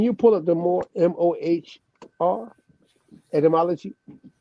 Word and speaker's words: Mohr: pull up the more m-o-h-r etymology the german pronunciation of more correct yeah pull it up that's it mohr this description i've come